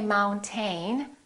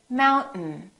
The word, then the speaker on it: mountain: letters are not pronounced we don't say mountain we say mountain mountain this syllable is stressed